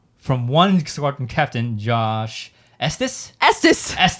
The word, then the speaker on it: Estes: And we have 2 from one squadron captain, Josh Estes. He actually messaged us today how to say his name. Estes.